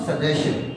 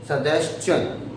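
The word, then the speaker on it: suggestion: Now what is the correct pronunciation? It's नॉट सजेशन, इट्स सजेशन, सजेशन।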